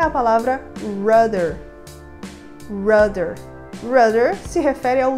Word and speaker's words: rudder: avião é a palavra rudder. Rudder. Rudder se refere ao leme de direção da aeronave. E aqui a letra D ganha esse sonzinho desse R mais seco.